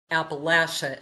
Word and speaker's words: Appalachia: So I have a funny story related to his writing as you know we now live in Appalachia or Appalachia as they say here and I have a hard time making myself say it like that.